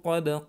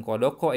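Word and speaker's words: قد: Qad qamatis sholatu qad qamatis sholah. Bukan kodoko ya. Qad.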